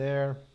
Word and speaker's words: heir: as derivadas delas, né, são as únicas que o H é mudo. Então na hora da leitura, a gente não coloca A, aqui a gente coloca an. Né? A gente vai falar an heir, it's an honor medal, tá vendo aqui?